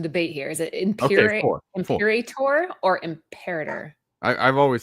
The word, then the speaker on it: Imperator: Pronunciation. Hold on. You guys and your hard vowels. Yeah, here we go. Ready? Imperator.